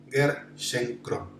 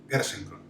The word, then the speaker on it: Gerschenkron: Para empezar con su apellido solamente, su apellido es fácil de pronunciar, es Gerschenkron. Gerschenkron.